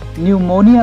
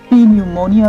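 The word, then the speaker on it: pneumonia: वो लोग गलती से न्यूमोनिया को पी न्यूमोनिया भी प्रोनाउंस कर सकते हैं।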